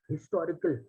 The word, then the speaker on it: historical: historical novel right ideally if I see how this word is pronounced that is historical right the edge is pronounced okay the H is